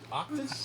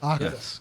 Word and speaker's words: OKTAS: wait before we start you pronounce the name O octus octus you got it octus cool do we need